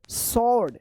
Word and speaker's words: sword: SWORD, सॉर्ड, सॉर्ड मतलब होता है तलवार, ठीक है ना, सॉर्ड, सॉर्ड।